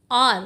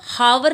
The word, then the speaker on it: hour: What is this, HOUR, आर, घंटा। इसको हम हावर नहीं बोलते, we don't call it like हार, प्रोनाउंस ऐसे नहीं करते। यहाँ पे H क्या होती है, यहाँ पे H साइलेंट होती है बेटे।